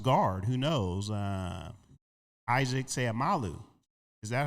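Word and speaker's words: Seumalo: Uh Isaac Seamalu. Is that how you pronounce the name?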